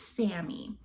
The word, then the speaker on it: Sammy: And so I watched him like put my number in his phone, and he wrote Cami, and I was like, "Actually, it's Sammy."